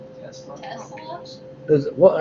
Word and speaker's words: Tesla: Have any of y'all ever heard of Telsa? Telsa? T-E-L-S-A? It's a car company. Tesla.